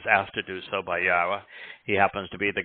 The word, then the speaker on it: Yahowah: you I was asked to do so by yahwah he happens to be the god of uh